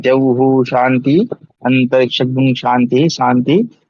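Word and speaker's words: शान्ति: में जहु शांति अंतरिक्ष शांति शांति वहां पे कई लोगों को मैंने देखा शांति शांति बोलते रहते दंत से बोलते रहते हो कहां से बोलना चाहिए शांति ठीक है इस प्रकार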